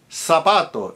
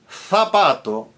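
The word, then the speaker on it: zapato: Sapato written with a Z meaning shoe. Sapato in Latin American Spanish. But tapato in Spanish, Castellian Spanish, loose in Latin American Spanish, luth in Castellian Spanish.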